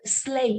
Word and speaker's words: sleigh: Or if you're teaching pronunciation, the word sleigh itself is pretty tricky to pronounce, right? And the way it rhymes with way should make it easier for the learners to remember how to pronounce it correctly.